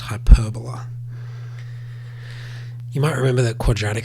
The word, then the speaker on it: hyperbola: sometimes called this uh word here which is pronounced hyperbola you might remember that quadratic functions are sometimes